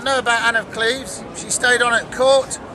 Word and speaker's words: Cleves: But when the portrait was handed to Henry, he looked at it and pronounced it Anne of Cleves. And no one argued. We've mispronounced it ever since.